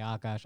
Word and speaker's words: Akaash: I want you all to go follow Akash. He's so funny. Akash or Akash? I say Akash, but I honestly don't even really know, because I know Indians who say Akash. I know Indians who say Akash.